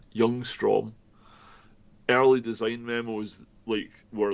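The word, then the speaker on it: Ljungström: I think the L at the start is silent. Youngstrom.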